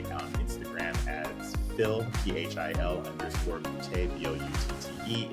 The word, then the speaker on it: Boutté: Again, you can find me on Instagram as Phil, PHIL _Boutté, BOUTTE. It is Boutté. If it's not Boutté, you're not saying it right.